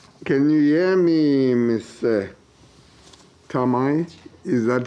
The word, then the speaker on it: Thamae: Or how do we pronounce it? Thamae.